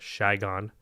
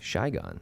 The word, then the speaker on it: Saigon: known as Saigon, or as the locals call it, Saigon. Oh, really? Saigon. That's how they pronounce it.